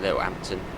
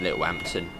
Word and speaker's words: Littlehampton: now the warning board for the 25 into little Hampton little Hampton saying it in my Southern accent little Hampton and don't worry I don't say it that